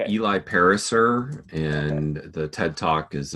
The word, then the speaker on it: Pariser: pronounce his last name I've heard it pronounced para sir some Eli Pariser and the TED talk